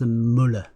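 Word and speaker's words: मूल: It is pronounced mool.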